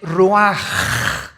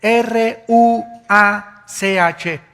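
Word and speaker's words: רוח: El ruaj que se escribe r u a c h. Ruach en el hebreo y se pronuncia igual roj.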